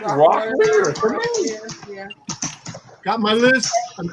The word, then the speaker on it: Rockler: He goes, many people pronounce it Rockler as Rocklear.